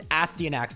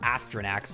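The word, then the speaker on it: Astyanax: I think it's Astanax, not Astronax.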